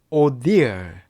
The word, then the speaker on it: ordeal: 어떻게 읽어주냐면은 ordeal, ordeal, ordeal 이렇게 읽어주면 돼요.